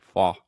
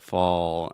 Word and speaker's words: fall: with the dark l sound almost makes the same sound as the all so fall yeah it's not totally like fo but you have fall and then that dark l sound if you have